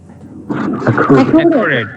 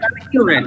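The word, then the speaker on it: accurate: totally যেন একুরেট হয় বুঝছেন একুরেট কি হবে একুরেট একিউরেট ইয়া এটা একিউরেট এটা একুরেট একিউরেট তাহলে এখন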